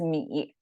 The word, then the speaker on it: 米: We often use this 米, it pronounced as 米.